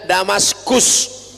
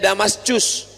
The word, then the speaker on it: Damaskus: Sedangkan Suriah ibu kotanya Damaskus. Tulisannya pakai C. Jangan bacanya Damascus.